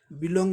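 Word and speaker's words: belong: बी को साधारण तरीके से बोलेंगे, ये वर्ब है दो सिलेबल का, इसलिए सेकंड सिलेबल में स्ट्रेस है, इसे जोर देकर बोलना पड़ेगा।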